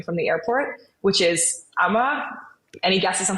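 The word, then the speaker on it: Amager: the airport which is Amma any guesses on how that's spelled it's a m a g r so the G the g is silent um and there are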